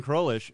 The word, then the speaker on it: Crowlish: choice welcome is catherine crowlish who cruelish crawlish crowlish what how do you say your last name like kind of i said it right the first time i did that with